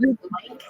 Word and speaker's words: Lynch: They their family name was actually Lynch. Oh, But- that's nice. Pronounced Link.